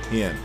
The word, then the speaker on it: Hien: So her sword is Ein? Ein? Hien. Hien. That's how you say it. Hien.